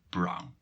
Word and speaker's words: Bruyne: Bruyne was written with U and Y, and officially it has changed in U and I to say brown.